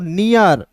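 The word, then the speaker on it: near: उसके बाद देखिए यहाँ पे एन ई ए आर तो एन का नौ, और ई ए आर है तो इसका उच्चारण ईयर के रूप में तो हो जाएगा दोस्तों नियर।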